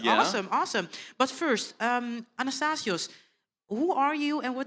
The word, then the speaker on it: Anastasios: cool yeah yeah awesome awesome welcome thank you anastasios am I pronouncing it correctly you're pronouncing it perfectly awesome